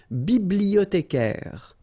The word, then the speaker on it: bibliothécaire: Then un bibliothécaire, bibliothé, remember in French the H doesn't exist, so you don't pronounce it.